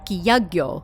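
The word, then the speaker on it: 百鬼夜行: the deadly knight parade also known as the hyaki yako in game although yagyo is another common pronunciation of it in real life in game if you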